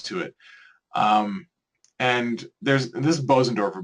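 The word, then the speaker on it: Bösendorfer: And this is Bosendorfer, by the way, Busendorfer, that's how you say it in Germany.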